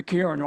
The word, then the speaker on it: Kirin: So on part of this Ming, they've got the Kirin. I'm using the Japanese pronunciation because of Kirin beer.